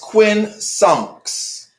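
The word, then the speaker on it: quincunx: asked what was the question so it is pronounced quin songs all right that's q-u-i-n-c-u-n-x all right and that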